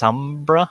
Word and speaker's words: Sombra: It's pronounced Sombra.